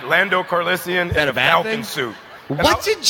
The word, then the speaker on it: Calrissian: I heard an extra syllable. Calrissian. Okay.